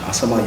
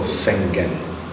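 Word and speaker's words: 浅間: Asama, if you read phonetically in Chinese, you call Sengen.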